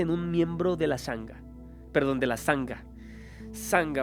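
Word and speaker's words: sangha: está sanga budismo eh se pronuncia sanga es una palabra del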